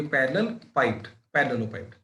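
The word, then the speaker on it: parallelepiped: तो ये पैरेललोपाइड। ठीक है, प्रोनाउंस ऐसे होता है।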